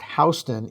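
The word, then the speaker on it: Houston: And to be clear, her name is pronounced Hston in English, not like the town in Texas with the American pronunciation.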